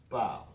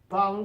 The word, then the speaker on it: parle: parle, and finally elle, parle. Now notice the pronunciation, lots of silent letters there at the end, right? So, parle, parle, parle, parle, parle, parle, parle.